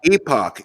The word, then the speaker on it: Epoch: quote that was in The Epic Times that was that was Epoch Epoch say it right or they'll send you